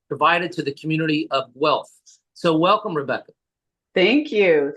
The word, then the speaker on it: Guelph: Rebecca was offered the management position at Woodlawn Memorial Park and started to commute to, is it Guelph? I want to pronounce this correctly. Guelph.